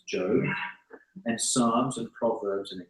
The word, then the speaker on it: Job: and you'll find that there's job that is pronounced not job I always thought it was job but it's not it's job and Psalms and Proverbs and Ecclesiastes and S